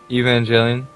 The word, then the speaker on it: Evangelion: Aren't you supposed to be the I can't otaku pronounce here? it really well. Evangelion.